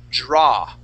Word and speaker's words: draw: picture now JY Seuss when we when we pronounce the word draw okay that that a w only makes an a sound so we would not say d pronouncing that w we would only say draw so she is drawing